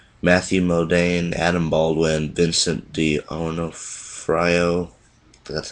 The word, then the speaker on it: D'Onofrio: This features Lee Ermey, Matthew Modine, Adam Baldwin, Vincent D'Onofrio. That's how you pronounce his name.